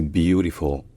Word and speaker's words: beautiful: retenir c'est déjà que l'accent tonique est sur la première syllabe qui est plutôt longue donc c'est beautiful et que la dernière syllabe se prononce avec un L qui est vélarisé c'estàd un L qui est pas juste prononcé le mais qui est prononcé avec l'arrière de la langue qui est un peu relevé donc c'est pas full